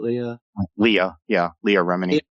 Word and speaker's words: Leah Remini: Leah Remini? Is that how you pronounce it? Leah Remini.